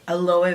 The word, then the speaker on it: aloe: with glycolic acid and aloe aloe vera now that's how you pronounce it and then the phenomenal